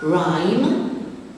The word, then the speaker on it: rhyme: Rhyme, the silent letter is the H after the R.